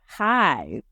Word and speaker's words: Hyve: But yeah, and so now I have Hive. That's spelled Hyve, and it is a eyewear company, and Hive stands for Helping Your Vision Evolve.